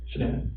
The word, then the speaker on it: Shannan: And I don't want to mispronounce her name wrong. Shannan? Shannan.